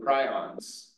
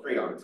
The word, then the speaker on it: prions: matter that's contaminated with prions, or prions, I've been told I was pronouncing it wrong before, prions are basically misfolded proteins that cause the other proteins around them to misfold.